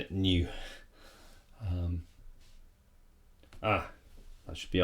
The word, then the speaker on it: nu: i minus one last one that's really helpful new just makes the algebra a little bit easier